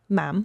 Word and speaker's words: ma'am: Um and you would say uh say ma'am ma'am rhymes with jam. Okay. Not mom because they say mom mom.